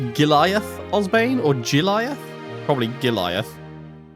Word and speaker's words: Giliath: Probably Giliath. Sounds like it would be pronounced like Goliath, but Giliath.